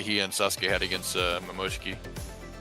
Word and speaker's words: Momoshiki: the fight that he and Sasuke had against Momoshiki. Omoshiki.